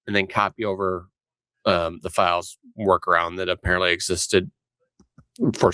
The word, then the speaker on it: Phials: So recently here, a developer who goes by the name of Files Basement, that's spelled PHIALS Basement, so Files Basement, has submitted a set